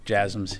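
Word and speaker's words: JASSM: um to Ukraine there's been some reports about jums if I'm pronouncing that correctly the last question yes jasms yeah you're pronouncing it correctly um I I don't have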